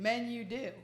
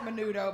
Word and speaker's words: Menudo: Look at the band he was in, Men You Do. I mean, you know, they let us, I mean, they pronounce it menudo, but that's just to throw you off.